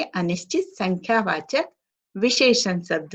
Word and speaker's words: विशेषण: विशेषण, न का उच्चारण करना है बच्चों, न का नहीं, ठीक है?